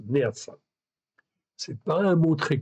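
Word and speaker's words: נאצה: Ok, c'est Neatsa. Ok, Neatsa, Nun, Aleph, Tzadé, E. Donc, ça se prononce Neatsa.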